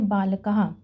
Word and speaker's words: बालकः: बालकः के अंत में ये 2 छोटी छोटी डॉट्स हैं, इनको हम कहते हैं विसर्ग। इनकी जो साउंड निकलती है वो होती है ह, तो इसको हम प्रोनाउंस करेंगे बालकः।